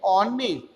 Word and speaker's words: honest: Here once again H remains the silent and honest.